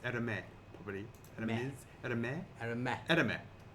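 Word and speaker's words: Hermès: Hermes. Hermes. Aramis. Hermes. You probably don't pronounce the S.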